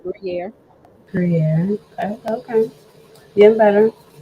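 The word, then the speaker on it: Gruyère: Trust You said it right, Gruyere.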